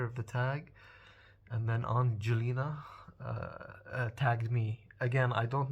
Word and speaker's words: Angelina: It's Angelina with a hard G. I don't know if I'm pronouncing it correctly. Angelina. I think that's how you pronounce it.